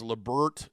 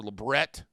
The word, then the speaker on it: labret: Half of us pronounce it as Labert or Labret. The other, it's Labret.